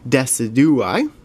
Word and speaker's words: Decidueye: Decidueye pack now, and I used to pronounce it Decidueye, but I've learned since then.